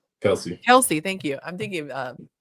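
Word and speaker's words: Kelce: Kelly. How do you say his name? Kelsey. Kelsey.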